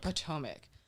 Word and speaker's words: Potomac: uh how do you say the name potomac potomac um i looked it up it's quoted as